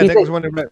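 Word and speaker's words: Nicolas Winding Refn: Like, there's you know who Nicholas Winding Refn? Is that how you say his name is? Yeah, Nicholas Winding Refn.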